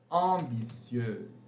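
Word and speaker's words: ambitieuses: Agora, ambiciosas vai ficar com S no final, que não vai ser pronunciado. Ambitieuse.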